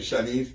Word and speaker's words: Shawnise: Her name is, I want to make sure I pronounce her name, Shawnise? Yes.